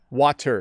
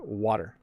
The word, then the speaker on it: water: to drink some water water is not how we pronounce that word even though there is a t in the middle we say water water you hear how i'm i'm over pronouncing it a bit to emphasize but oh i'm thirsty i'm gonna drink some water okay um so yeah it's just water water it's like a softening of the t sound that's my best